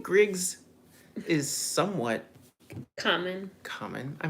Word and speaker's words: Griggs: mean when I tell people my name is Griggs like 95% of the time they say Craigs like like c r a i GS and I'm like no Griggs g r i oh everyone always thinks it's